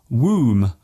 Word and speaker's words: womb: spelling is very different some silent letters seem to have no logical purpose at all for example the b in comb womb and bomb there is only one